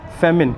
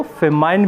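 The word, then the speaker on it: famine: और अकाल को हम इंग्लिश में बोलते हैं फेमिन या कई जगह लोग उसको फेमाइन भी प्रोनाउंस करते हैं।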